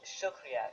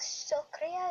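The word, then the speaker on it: शुक्रिया: So how do you say thank you in Hindi? Shukriya.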